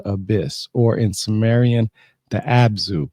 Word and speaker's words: Abzu: charge of the abyss, or in Samaran, the absu spelled abu. What is an absu? AB Zu.